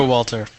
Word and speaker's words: Showalter: Showalter.